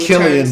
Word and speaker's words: Killian: It's pronounced Killian, by the way.